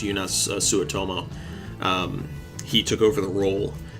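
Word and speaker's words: Joonas Suotamo: then also Solo eunice I think it's pronounced eunice sua tomo he took over the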